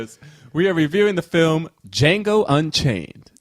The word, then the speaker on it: Django: are reviewing the film Django Unchained the D is silent just on Jamie Foxx